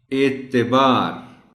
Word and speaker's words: اعتبار: اس کو، شمال، شمالی۔ اعتبار، تے کے نیچے زیر کا آپ خاص خیال رکھیں گے اور بچوں کو بھی یہی بتائیں گے، کیونکہ عام طور پر اس کو ویسے تو جلدی میں لوگ عین کو بھی کھا جاتے ہیں، اعتبار کہہ جاتے ہیں، غلط ہے بالکل، لیکن اعتبار بھی غلط ہے، یہ